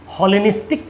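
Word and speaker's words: Hellenistic: हॉलेनिस्टिक नहीं, हेलेनिस्टिक, गलत प्रोनाउंस हो गया, हेलेनिस्टिक।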